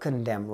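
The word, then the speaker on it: condemn: यार right right सक कंडम right what is the word कंडेम spelling में एक ही लोचा हो सकता है कि इसमें कंडेम लिखा जा रहा है लेकिन लास्ट में एन आ रहा है तो उसको ध्यान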